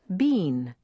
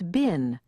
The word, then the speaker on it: been: with the verb bin many people want to pronounce it Bean but in standard American English it's bin with a short ey sound bin because of the